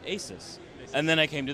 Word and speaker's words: ASUS: yeah yes so say it with me together ASUS ASUS yeah so it's something we're constantly trying to